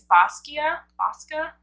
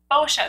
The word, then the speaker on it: Boscia: I think it's Bosca? Boscia, that's what it is.